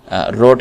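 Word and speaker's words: wrote: शिरोविच nicely ठीक है रोड के अंदर डब्लू जो है यह साइलेंट होता है तो हम कहते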